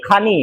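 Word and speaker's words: خوانی: वो ख्वानी नहीं, खानी है, वाव जो है ना उसमें साइलेंट रहता, खानी।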